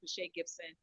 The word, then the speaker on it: Pascha Gibson: But you'll see the link on my page on Pache Gibson as well. And that's spelled Pascha Gibson, Gibson.